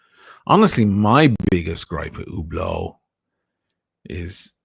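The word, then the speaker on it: Hublot: I love the way none of them pronounce it correctly. By the way, still today they can't say ublau. I have to say Hublau Veron Constantine and Lines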